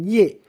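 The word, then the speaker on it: 叶: Marga Ye, pinyin Ye, diucapkan dengan nada keempat, dibaca dengan Ye.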